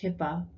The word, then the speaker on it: HIPAA: of 1996 or hipaa hipaa usually pronounced hipaa was created to improve